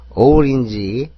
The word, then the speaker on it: orange: orange, O는 O, R은 리을, A는 E, N은 니은, G는 끝에 있는 거니까 지읒이 아니라 지 소리가 나는 거고 끝에 있는 E는 소리가 안 나는 겁니다. 이것도 오렌지라고 알고 있는 사람도 많은데 발음 기호상은 오렌지입니다.